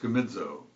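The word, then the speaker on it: κομίζω: m this is pronounced comezo if i change the z sound to s i bet you'll get it commission what english would we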